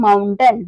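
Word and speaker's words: mountain: मतलब होता है खलनायक एम एम ओ यू एन टी ए आई एन ए आई का जो प्रोनंसिएशन है व होगा क्योंकि ए आई के बाद क्या आ रहा है एन आ रहा है तो इसे क्या पढ़ेंगे हम माउंटेन माउंटेन मतलब होता है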